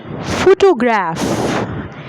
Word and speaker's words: photograph: Like, for example, photograph. The first syllable is being stressed.